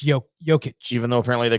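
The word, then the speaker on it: Jokić: Is it Jokic? Or is it Y? Like it's not Jokic, right? It's Jokic.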